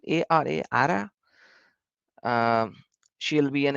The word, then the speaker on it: Ara: I don't know how to pronounce her name. Ara, right? A-R-A, Ara.